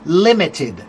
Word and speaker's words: limited: Limited, the first word or the first syllable is stressed.